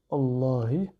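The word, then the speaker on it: اللهِ: i donc bi là le Alif ne va pas se prononcer il est mué pas de symbole adessus ensuite on a le nom d'Allah avec la voelle i en dessous allahi donc à retenir cette forme tel quelle d' d'accord ensuite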